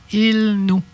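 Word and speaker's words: ilnu: Être humain, il-no. Tu l'as eu, ton I, là, hein, gars? Tu l'as entendu, là? Être humain. I. Tu le prononces, ton I, là. Il-nous. Le I, on l'entend comme faux. Il-nous.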